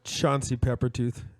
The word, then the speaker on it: Chauncey Peppertooth: Chauncey Peppertooth. It's spelled like it sounds.